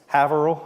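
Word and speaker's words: Haverhill: I probably massacred that I think it's haval I think that's how they say it you know H Hill okay good to get that straight anyway uh I if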